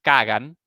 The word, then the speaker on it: Kagan: su autor el señor Robert kean pronunciado en castellano Robert kagan a veces a veces los